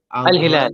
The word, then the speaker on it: Al-Hilal: Am I pronouncing that right? Al-Hilal, yeah.